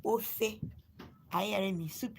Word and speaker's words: ofe: In our dialect, soup is called ofe.